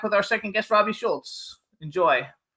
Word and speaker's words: Shoults: So, how do we pronounce it? Schultz. Yes, sir. Schulz.